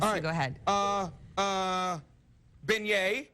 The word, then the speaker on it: beignet: go ahead uh uh beignet we know it's beignet it's it's not uh bagnet uh chipotle it's not